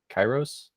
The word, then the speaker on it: Kairos: you started or were approached by, is it Kairos Creative? Oh Is that yeah, how you pronounce Kairos.